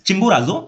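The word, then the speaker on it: Chimborazo: study किया चिंबोराजो ठीक है थोड़ा डिफिकल्ट है प्रोनाउंस करने में इट्स चिंबोराजो माउंटेन इन इक्वाडोर ठीक है कहां पे लेटस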